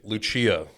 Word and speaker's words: Lucia: And it's Lucia. So Lucia. I have that locked in.